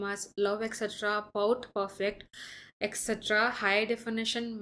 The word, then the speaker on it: LOVETC: This is how you should pronounce this word, love etc. Okay, that's the brand name.